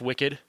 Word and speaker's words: WCKD: It's WCKD, but it's pronounced Wicked.